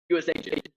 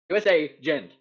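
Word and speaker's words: U.S.Agent: No, that's how you're supposed to say it. That's how it's spelled. It's USA gent. USA gent. There's no way to pronounce it that makes it sound like a name, but it technically is one. But it does just mean U.S. agent.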